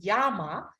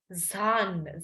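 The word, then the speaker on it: ざん: the mountains the second kanji will not read as Yama but it will read as Zan said a n okay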